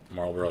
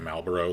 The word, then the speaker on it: Marlboro: Like, when the episode comes out where I comment on the Marlboro cigarettes and accidentally mispronounce it Malboro, like the friggin' Final Fantasy monster, because I wasn't thinking